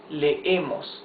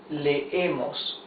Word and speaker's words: leemos: Or nosotros leemos. You see, you pronounce both E's. Nosotros leemos.